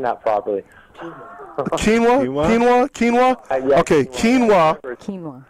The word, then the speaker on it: quinoa: really disturbing to hear me see say that kin wow tilapia even know if I'm pronouncing that properly quinoa quinoa quinoa okay quinoa quinoa okay so we